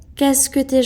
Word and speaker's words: qu'est-ce que t'es: Ou même à l'oral, ça se prononce qu'est-ce que t'es gentil? Qu'est-ce que t'es gentil? Comme ça. Qu'est-ce que t'es gentil? Qu'est-ce que t'es gentil si on veut parler plus rapidement?